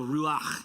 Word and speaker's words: ruach: used in the bible ruach it kind of has this weird like throat thing if you're sick you can say it right you know but this